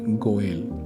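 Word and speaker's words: גואל: Aquí la palabra para redimir es una palabra en hebreo eh que se pronuncia goel y quiere implica la acción de comprar de vuelta, de volver a adquirir casi que como la acción que tuvo Osea, ¿cierto?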